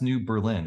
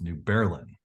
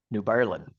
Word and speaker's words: New Berlin: have family that yes it's and it's not pronounced New Berlin it's pronounced New Berlin New Berlin my Uncle Scott was was birthed in New